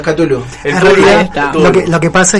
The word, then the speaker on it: Cthulhu: A veces se le dice Tulku, pero es Cthulhu.